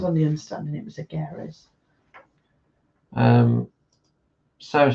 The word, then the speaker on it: Agares: Well, I think some people could call him Agares, but he's actually got a little tick over the E in the end. So I was on the understanding it was Agares.